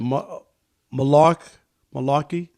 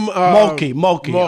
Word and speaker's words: Mulkey: The coach, I always mispronounce her name. What is it? Malarkey? Kim Mulkey.